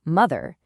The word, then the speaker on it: mother: The O sounds like a U. For that, we can use our silly voice tool, Say It As It Sounds. You can say it like ma-oath-er to yourself to remember that O is in there.